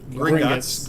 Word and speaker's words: Gringotts: Did I pronounce that right? Green. Gringotts.